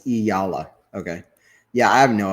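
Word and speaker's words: Eala: Anthony, it's pronounced as Iyala.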